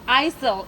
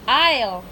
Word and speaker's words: aisle: is this one okay it's not isil it's aisle i'll sit say it's silent yeah silent s i'll sit hmm okay